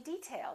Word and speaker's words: detail: at the next one did you say detail or detail if it's a noun we say detail that's an interesting detail first syllable stress this is a hard